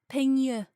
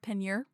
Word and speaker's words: Peigneur: Peigneur is how the Google Translate just told me how to say it. But again, French is, we're going to go with Peigneur.